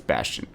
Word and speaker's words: Bastion: Is it Bastian? I don't know. It's Bastion.